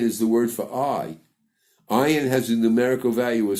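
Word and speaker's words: ayin: the word for I ayan has a numerical value of 70 we will pronounce it as if it's silent just like the hour but you should know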